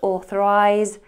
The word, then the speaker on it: authorise: Now be aware, British English uses an S towards the end, authorize, although it's pronounced as a Z.